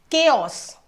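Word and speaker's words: chaos: Next word is केओस देखो यहां पे अगर हम सी एच की बात करते हैं सी एच के हमारे तीन साउंड्स होते हैं। सी एच का हमारा थ्री साउंड्स होता है।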